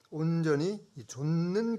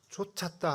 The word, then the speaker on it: 좇았음이라: 이 갈렙이 하나님을 온전히 이 발음을 좀 잘해야 됩니다. 온전히 좇는 비결 그게 무엇일까 정말 궁금해집니다. 근데 발음을 잘 해야 되는데 지금 읽으신 분이 하나님을 온전히 쫓았다 하고 쫓았다는 정반대인데 발음을 잘 해야겠습니다. 예수님께서 이 갈릴리 해변가에서 그 제자들을 부르실 때 나를 쫓으라 이렇게 하셨지 나를 쫓으라 그러면 정반대죠.